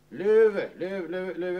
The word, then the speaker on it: lever: Det står ju som fotnot här hur det ska uttalas. Löve.